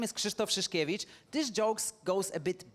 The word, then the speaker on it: Krzysztof Szyszkiewicz: name I or even surname I just cannot pronounce. So please introduce yourself and teach us. So my name is Kristoff Shashkevich.